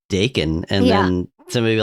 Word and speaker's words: Dakin: Somebody be like, it's actually pronounced Dakin.